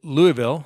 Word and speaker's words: Louisville: church down there in Louisville I think I pronounced that right Louisville Louisville Louisville Louisville Louisville Louisville so we have a Louisville here in Colorado but I think it's Louisville like Louisville Slugger anyway a church down